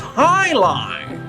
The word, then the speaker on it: jai alai: heck is jai alai it's pronounced Highline what the heck is